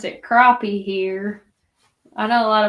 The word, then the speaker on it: crappie: you'd actually want to eat it crappy we pronounce it crappie here I know a lot of people say crappy joking around but crappy crappy that's an OP